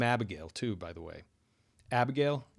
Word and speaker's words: Abigail: Abigail. The I vowel in Abigail, most people do not fully pronounce it.